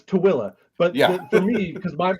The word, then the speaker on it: Tooele: It's spelled tool, like the fabric. Yeah. But it's Tooele.